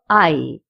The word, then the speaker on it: hay: We use the verb I because it's a very important verb when we make a sentence.